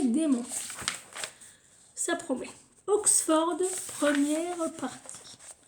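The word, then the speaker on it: dæmon: Alors, ils disent le mot démon, qui apparaît tout au long du livre, se prononce comme le mot français démon.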